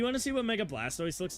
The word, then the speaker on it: Blastoise: Anyway, Blastoy site. Blastoise. Whatever. They kicked Clement out of his own gym. Blast Blastoise. That's how it's said.